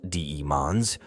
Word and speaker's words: Daemons: Chaos demons, or simply demons, pronounced Daemons, also known as a never-born